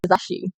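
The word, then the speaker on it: 足: Um, the whole thing is ashi.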